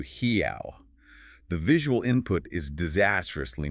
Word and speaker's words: real: The currency is spelled R-E-A-L, When you see that, you naturally read. Real. Or maybe you're all. Right. But the true sound is closer to hiao.